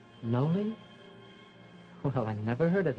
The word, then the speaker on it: Noli: know my name's joe mine's noley well i never heard of that before how do you spell it n-o-l-i do you like it no yeah